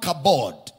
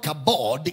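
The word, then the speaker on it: כָּבוֹד: The word glory is from the Hebrew word kabod. Kabod, K-A-B-O-D. And it's the Greek word doxa. Doxa, D-O-X-A. Kabod, doxa. Okay? Now, it's the word doxa in the Greek, taken from the word kabod in the Hebrew.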